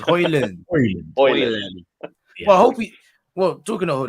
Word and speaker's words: Haaland: There was a clip of it going viral the other day of him pronouncing it himself, and I think he said it was Haaland. Oh, so it's Haaland.